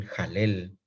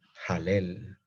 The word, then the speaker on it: Halel: le llama el gran jalel. El gran jalel. ¿Qué es la palabra? ¿Qué significa la palabra jalel? Se escribe H-A-L-E-L. Alel, así se escribe. Alel con H. Pero se pronuncia jalel.